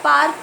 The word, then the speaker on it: पार्क: तो अगर हम लोग पार्क का उच्चारण धीरे करें तो आप देखेंगे पा र क, मतलब आत उर, र नहीं बोल रहे हम लोग, उर बोल रहे हैं।